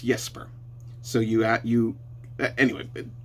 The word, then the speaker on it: Jesper: So it's not Jesper, it's Yesper.